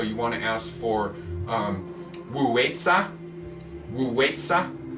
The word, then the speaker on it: Wei Zi: want to ask for Wei Zi. It's said W-U, or it's spelled W-U, W-E-I, I think Z-I, Wei Zi.